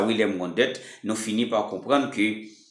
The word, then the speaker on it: Wundt: Ça veut dire, c'est bon, c'est son nom en anglais, et il est prononcé en anglais, c'est W-U-N-D-T, c'est Wilhelm Wundt, ok?